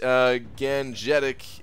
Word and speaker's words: Gangetic: It's pronounced Gangetic in India. Okay, Gangetic, alright.